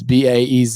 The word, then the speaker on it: Baez: Baez, or I don't even know how to pronounce that. It's Baez.